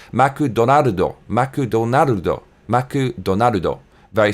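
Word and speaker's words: マクドナルド: Also, McDonald's in Japan is pronounced Maku Donaldo.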